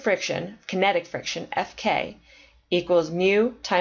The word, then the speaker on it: mu: the coefficient is represented by the letter mu pronounced mu and we put a k for kinetic friction